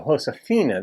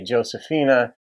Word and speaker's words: Josefina: it just makes sense the J is pronounced in Spanish as an H sound in English so hoshina that makes complete sense but we would say Josephina or if you're a